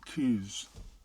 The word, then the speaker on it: coos: But so when you pronounce it, it's helium coos. Yeah, or Highland coos.